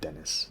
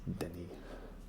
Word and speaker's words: Denis: business today that is denis and i hope that i'm pronouncing it properly you know that's not it's not dennis it's denny right in interviews he's like